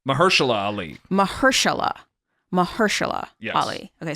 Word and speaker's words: Mahershala: It stars Julia Roberts, Ali Mahashar Ali. How do you say his first name? Mahershala Ali.